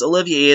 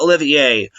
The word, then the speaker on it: Olivier: those of you saying oh no it's Spencer's what last name isn't pronounced Olivia it's Oliver no it's pronounced Olivier just be quiet um